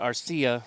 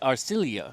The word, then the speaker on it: Arcilla: the philippines and our my last name is not arcia like i've been pronouncing it all this time so uh pie in my face and it's our cilia i'm still going to